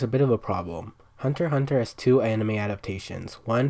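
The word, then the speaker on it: Hunter × Hunter: hunter x hunter pronounced hunter hunter is a manga series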